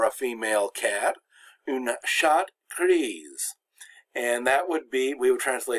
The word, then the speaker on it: gris: And for gris, the S is silent, but gris, the S